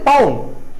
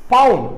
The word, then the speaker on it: pawn: அடுத்தது queen, bishop, night, rook, பவுன். இப்போ நான் ஒவ்வொரு காயை பற்றி உங்களுக்கு ரியலாக காட்ட போகிறேன் என்ன காயின்னு. முதலாவது இது பவுன், இது என்ன பேர் என்ன, பவுன், PAWN, பவுன்.